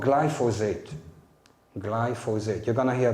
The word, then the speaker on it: glyphosate: have here with you glyphosate three syllables glycin methyl phosphonate glyphosate